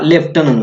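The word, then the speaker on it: lieutenant: ओ एन इ L colonel आहे त्याच्यानंतर हा लेफ्टनंट वर्ड लेफ्टनंट आता ह्या दोन्हीचं स्पेलिंग करेक्ट आहे लेफ्टनंचं बघू आता आपण प्रोन्सिएशन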